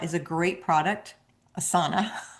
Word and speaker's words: Asana: Asa is a great product. Asana, I always want to call it asa because I'm a yoga teacher. But asana, which is spelled the same way, is a great product.